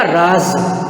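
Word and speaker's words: राज़: देखो यहाँ पे राज, ज के नीचे बिंदु है, देखो नुक्ता लगा है, तो ये बोला जाएगा राज।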